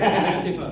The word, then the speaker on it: Antifa: Before we get there, Antifa. Sorry, Antifa. That's yes. how you pronounce it.